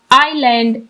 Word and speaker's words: island: Story का title है हमारे पास आइलैंड एडवेंचर यानी जजीरे की मोहिम जोड़ी। आइलैंड adventure. इस आइलैंड में यह जो लेटर एस है, यह हमारे पास साइलेंट है।